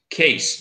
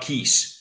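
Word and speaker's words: Kees: So you pronounce the brewery as Case, not Keys.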